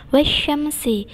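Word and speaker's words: وَالشَّمْسِ: Di situ ada judul wasyamsi, sama dengan wasyamsi. Itu ada tanda tasdid, maka ditekan membacanya.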